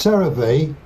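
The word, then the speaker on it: Cereve: It's It's pronounced Sarah Ve and it's Charlie Echo, Romeo Echo, Victor Echo.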